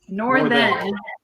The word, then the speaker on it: Northen: Northen. My wife tells people not now, nor then.